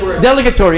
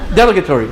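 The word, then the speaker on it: dilatory: Delegatory. I had the accent on the wrong syllable. Delegatory.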